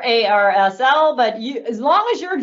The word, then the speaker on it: ARSL: who's from um arsl arsenal depends on how you pronounce it i've heard it both ways i prefer ar asl but as long as